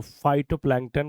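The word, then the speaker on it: phytoplankton: हिटोप्लांटिकेट के बोलते हैं पी साइलेंट है तो वाई आर इसको हम बोलेंगे हिटो प्लांटन इंपॉर्टेंट तो फाइटोप्लांटन क्यों इंपॉर्टेंट है यह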